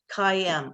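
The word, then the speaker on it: CAIM: and integrity she founded kim am i saying that right rose i am i know it's spelled c-a-i-m but it's pronounced cayenne okay perfect and um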